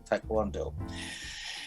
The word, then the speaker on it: taekwondo: Oh, and I'm not sure how you pronounce this, but he enjoys his taekwondo?